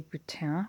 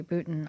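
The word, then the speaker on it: Boutin: she saw her Vicky Booton on one of the YouTube videos and she was saying I was so disappointed she totally Americanized her last name and she introduced herself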